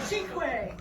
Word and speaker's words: cinque: A cinque.